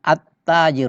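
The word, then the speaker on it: التاجر: ini dibaca masjid tanya at-taajir berarti hilangnya tidak di tidak dibaca dalamnya itu tidak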